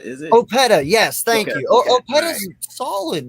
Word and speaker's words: Opeta: Hey, look, it's not Opeta, is it? Opeta, yes, thank you.